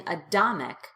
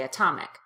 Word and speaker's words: atomic: I'm not saying adomic, I say atomic.